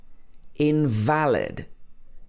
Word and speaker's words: invalid: first one invalid so in this word the stress is on the second half of the word valid invalid this means it's not